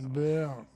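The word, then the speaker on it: Baer: Mais non, ça s'écrit pas en français, son nom c'est B-A-E-R. Baird.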